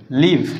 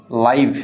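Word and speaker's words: live: সরাসরি প্রচার ঠিক আছে বাস করার ক্ষেত্রে উচ্চারণটা হবে লিভ ল দীর্ঘি ভ আর সরাসরি প্রচারের ক্ষেত্রে উচ্চারণটা হবে লাইভ ল আকার হস ভ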